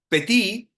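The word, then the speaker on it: פֶּתִי: ocupa una palabra que la palabra petit suena como la palabra pequeño en francés, pero se escribe muy diferente. El petí es la persona, uno podría decir ingenua, pero no es tanto ingenua.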